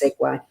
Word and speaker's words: segue: written to make sure I think honey actually pronounced segue but I'll have to